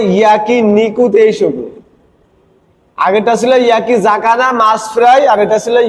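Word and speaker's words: 焼き魚: Yaki জাকানা, জেড এ, যা উচ্চারণ হবে, যা, সা হবে না।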